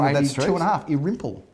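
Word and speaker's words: Irymple: Congratulations to buyer and seller, Philip Irimple Avenue in St Kilda. Competitive auction. Number of buyers rocked up on the day there. Well, what's the name of that street? 2.5. Irimple. Irimple?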